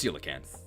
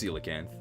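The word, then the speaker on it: coelacanth: Is it pronounced like coal or seal? It's seal. So the correct uh pron it's silicanth but I mean you would never know like what but yes it's silicanth.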